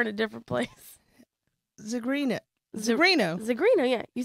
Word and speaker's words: Zigrino: Please put your hands together for Jenny Zigrino.